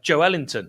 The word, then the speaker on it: Joelinton: And there's also Joelinton, and that is how it's correctly pronounced.